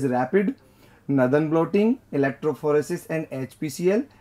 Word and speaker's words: RAPD: Options are PCR and RAPD, pronounced as rapid, Northern blotting, electrophoresis and HPCL, and the fourth option is the microscopy.